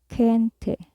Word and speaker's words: gente: which means that and another way to pronounce g is like a gargoed k when it is followed by the vowels e i as in Gente kente which means person kente the next letter